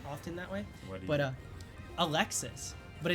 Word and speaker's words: Alexis: But uh Alexis, but it's pronounced Alexi in France.